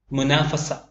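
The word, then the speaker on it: منافسة: മുനാഫസ മത്സരം, മുനാഫസ തുൻ എന്ന് എഴുതും, എന്നാൽ ഉച്ചാരണത്തിൽ മുനാഫസ എന്നേ വരികയുള്ളൂ. കോമ്പറ്റീഷൻ മത്സരം.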